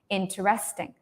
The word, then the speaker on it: interesting: oh no interesting no listen I N is very long right interesting interesting yes correct interesting no so this Tre is very is very small right it's it's very quiet so for me as a